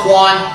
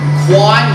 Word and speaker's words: Kwan: And again, those individuals study arts, again, from like the Muda Kwan.